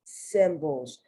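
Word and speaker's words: cymbals: So you have here Olympic, you have symbols, and that C is soft, symbols, because you have another word that is pronounced almost the same, because that B-A-L-S is pronounced bowls.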